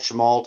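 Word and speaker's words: Chemult: Oregon right yeah it's a little town called shamalt it's literally a little strip on Highway 97.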